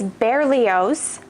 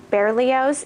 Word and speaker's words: Berlioz: So the black one is Berlioz, if I looked up the correct pronunciation of that. Berlioz is the black one.